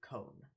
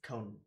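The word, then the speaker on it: koan: they're called Zen combs koa n cone or con you can pronounce it in a number of ways it's cone though as far as I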